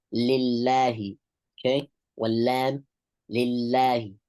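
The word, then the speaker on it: لِلّٰهِ: is when he says lillahi. Okay? Wallam lillahi. Lillahi. Okay? The lam here has to be pronounced with tarqiq.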